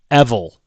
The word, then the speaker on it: Evul: I think his name should be pronounced Evil.